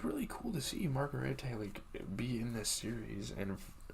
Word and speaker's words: Margarete: In Germany, under an alias, Lalo approaches Werner Ziegler's widow, Margarete, at a bar.